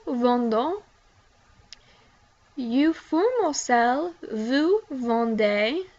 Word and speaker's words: vendez: You formal sell, vous vendez. The EZ is pronounced like A.